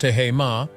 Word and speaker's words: Tehama: coastline stretching from Monterey to Santa Cruz, Tehama, pronounced Tehama, features an exciting 18-hole golf course and an elegant 18,000-square-foot Spanish-style clubhouse.